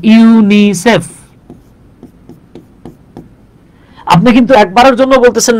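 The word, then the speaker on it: UNICEF: যে আপনি কিন্তু এটাকে ইউনিসেফ বলতেছেন ইউএন আই সিএফ বলতেছেন না তার মানে তার মানে যেগুলো অ্যাক্রোনিম সেগুলো উচ্চারণ হবে শব্দের মত আর যেগুলো এব্রিভিয়েশন সেগুলো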